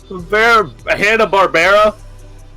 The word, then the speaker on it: Hanna-Barbera: Hanna-Barbera.